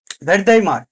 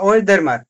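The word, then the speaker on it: Wertheimer: মূল প্রবর্তককে যে ভেরদেইমার বা ওয়েরদেইমার এরকম কিছু বলে, যে এটা যেহেতু ওয়েস্টার্ন ইয়ে তো ভারদেইমার এটাই অনেকে বলে, বা ওয়েরদেইমার এরকম বলে। তো ভারদেইমার আমরা এটাই বলি, বাঙালি আমরা বাঙালির মতো উচ্চারণ করি, ম্যাক্স ভারদেইমার।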